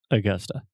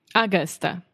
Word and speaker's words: Augusta: it's not augusta augusta yeah so you have two schwa the uh uh sound augusta augusta almost almost okay do